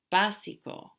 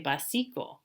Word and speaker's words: básico: Académico, básico. If we didn't have it, you would say básico. No. Básico.